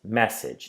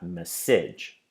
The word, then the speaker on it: message: we say medium and finally we have message which has two syllables and we save message and the stress is on the first syllable its message not message so let's go through